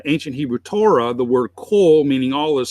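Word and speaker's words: כֹּל: But there's a dot above the Kaf, that's called a cholam, and that represents the O sound. So it's pronounced kol, and that means all.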